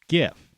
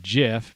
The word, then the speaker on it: GIF: gov it's dot com it's dot gif it's not jif because jif is a peanut butter and it begins with a j it's not a soft g when you have a get when you have a g right there's certain vowels that have to follow the consonant in order to soften the g that's grade school stuff